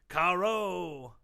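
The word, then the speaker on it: carreau: It's pronounced carrot. Carao. It's a special feat in which the shooter knocks the opponent's bowl out while leaving his bowl very near to the impact. It's pronounced caro.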